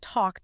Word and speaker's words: talk: That is exactly why calm doesn't rhyme with cat and talk doesn't rhyme with tack. The dark L alters the preceding vowel and then essentially vanishes into the M or the K.